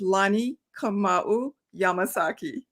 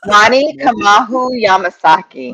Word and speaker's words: Lani Kamauu Yamasaki: And Corey, my name is pronounced Lani Kamauu Yamasaki. Wow. Lani? Lani Kamauu Yamasaki.